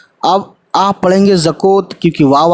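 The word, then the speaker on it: زکوٰۃ: उसी तरीके से जैसे यहाँ टी साइलेंट है, वैसे यहाँ पे वाव साइलेंट है और काफ पे खड़ा ज़बर लग गया, तो ये ज़का हो गया, ज़कात, है ना।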